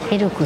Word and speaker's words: ELK: 読み方はエルクさんでした。